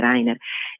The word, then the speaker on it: Rainer: Reich, quindi un Gauleiter, Rainer, la pronuncia in effetti è Rainer, che doveva effettivamente rispondere